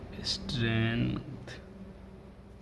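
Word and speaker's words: strength: पढ़ते साट कर लेते लेकिन जी साइलेंट नहीं है स्ट्रेंथ ऐसे ही वर्ड लिखा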